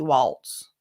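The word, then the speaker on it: Walz: home state of democratic Vice Presidential nominee Tim Walls with Mary lammer of Twin Cities PBS and Mary I know you've been you've been tracking why you think they pronounce his name walls when it's obviously Walts I guess he goes by that I don't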